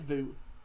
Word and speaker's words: Wout: I think they're pronounced it as Wout Weghorst. But I swear it's Vu. It's Vu Weghorst.